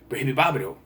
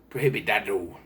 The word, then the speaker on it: prohibidado: But the running joke is that Nick can't pronounce it. So he goes, prohibibabado, prohibidibidibabado. That movie's prohibidibidibabado. He just can't pronounce it. Prohibidado.